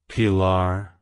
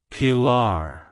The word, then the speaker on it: Pilar: in Catholic tradition meaning pillar in Spanish it's pronounced as parar pillar pillar to pronounce it correctly emphasize the first syllable and roll the r sounds slightly like hello par goodbye